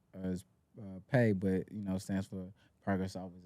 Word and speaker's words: Pae: So I was like, let me try something with mines, and I came up with Pae, pronounced as Pae, but stands for Progress Always Established So Clothing.